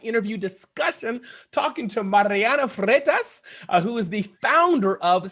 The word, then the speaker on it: Freitas: another exciting podcast interview discussion talking to mariana fretas who is the founder of sirius app located